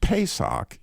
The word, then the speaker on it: Pesach: So the word Passover that Jesus that God used in writing out in the book of Exodus is pronounced Pesak if you were to say it in Hebrew.